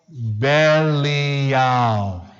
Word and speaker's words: Belial: You don't have to know it, because right next to it, it pronounces it for you. Belial.